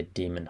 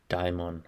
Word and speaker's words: daimon: I like to say demon hugger. It's actually daimon hugger. But it's a play on demon hugger as well.